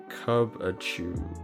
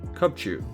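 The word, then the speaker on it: Cubchoo: Cubachu or Cubchu. Cubchu, that's how you say it.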